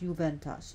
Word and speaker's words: Juventas: her Roman name is juventas juventas by being pronounced juventas j u v n t a s her